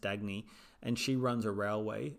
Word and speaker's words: Dagny: And in that, the main character is, I think her name is pronounced Dagny, and she runs a railway, and she's friends